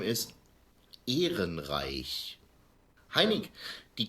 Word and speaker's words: Ehrenreich: The correct pronunciation of the name is Ehrenreich. Ehrenreich.